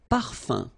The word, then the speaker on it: parfum: So remember, even if you've got this like that, phonetically it's exactly the same thing as if you would have un. So it's nasal and it's un. So it really goes in your nose. You don't pronounce the M at all.